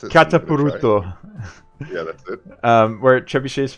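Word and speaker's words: Kataparuto: I just don't know how to pronounce it. Katapuruto.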